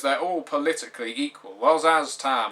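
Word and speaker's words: Szass Tam: Well, Zaztam, or Zhaztam, as some people pronounce it, is undoubtedly the most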